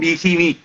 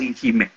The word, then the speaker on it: Ihimi: Ezechime was a name that was corrupted from Ihimi. Ihimi was mispronounced by the Seluku people as Ihime.